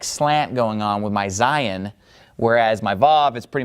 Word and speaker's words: Zayin: The pronunciation of Zayin is, obviously the letter makes a Z sound, Zayin.